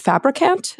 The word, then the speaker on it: Fabricant: criminal justice system by m Chris is it fabricant is that how you say it all right